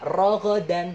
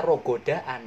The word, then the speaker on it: رغدا: Wakula minha rogodan. Bacanya rogodan. Jangan wakula minha rogodaan, nanti disimarahin sama Pak Ustadz ya, gitu ya.